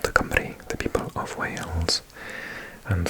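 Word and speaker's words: Cymru: And so, yeah, Camry, and lots of people in England mispronounce it because it's, um, C, Y, M, R, U, and it's a little bit deceiving cuz our vowels often make different sounds to English. So, the Y is more of a H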